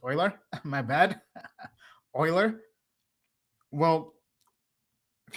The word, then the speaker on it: Euler: I mentioned Euler or somebody's saying it's pronounced Oiler.